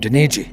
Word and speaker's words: Daniji: Rhymes with Luigi. I'm Daniji.